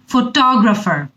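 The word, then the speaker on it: photographer: এরপরে আমি আবার বলি ফটোগ্রাফার, যে ছবি তুলে, ফটোগ্রাফার, টতে স্ট্রেস বেশি।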